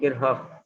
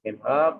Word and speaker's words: Kirchhoff: Karakteristik rangkaian listrik A, hukum Kirchhoff. Ini bacanya Kirchhoff. Ya, ini tidak Kirchhoff tapi Kirchhoff.